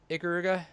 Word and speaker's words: Ikaruga: one guy that uh how do you pronounce uh ikaruga yeah you can say that uh and then when